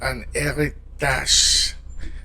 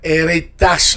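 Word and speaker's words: héritage: An eritage. An eritage. Anitage. Yeah, don't forget that R. The French R.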